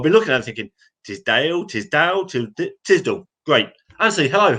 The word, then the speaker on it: Tisdall: It's Anthony Tisdall. Tisdall?